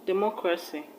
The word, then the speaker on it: democracy: You should place the stress on the third syllable from the end of the word.